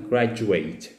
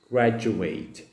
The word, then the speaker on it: graduate: شباب ليها نطق مختلف، فالنطق بتاعها يبقى graduate graduate graduate.